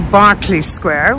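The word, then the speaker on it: Berkeley Square: okay guys so we've made it here to Barclay Square which I had mispronounced in my previous Mayfair video and we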